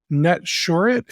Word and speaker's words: Netsurit: His name is Orrin, and Orrin is the co-founder and CEO of Netsurit. Is that the right way to pronounce it?